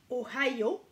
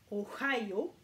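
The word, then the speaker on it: おはよう: Donc voilà, ohayo, ohayo, donc on prononce H et yo.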